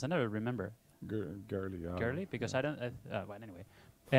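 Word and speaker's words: Goerli: You need to be able to get some some Ethereum from Gurley that how's it pronounced? I never remember. Girly, yeah.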